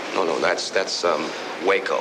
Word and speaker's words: Waco: just being good friends wacko it's not what they call you no no that's that's um Waco you know with a long a like the town whenever they find you